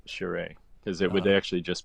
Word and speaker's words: Charest: If It's funny for how I never pronounced his name like that, but that's Charest, fine.